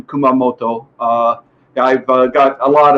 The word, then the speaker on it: Kumamoto: after 30 years in kumamoto which is the pronunciation kumamoto uh i've got a lot of japanese friends